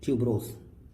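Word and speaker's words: tuberosa: तो spelling POLIANTHES, पॉलियंथिस और पॉलियंथिस ट्यूबरोस या ट्यूबरोसा आप बोल सकते हैं।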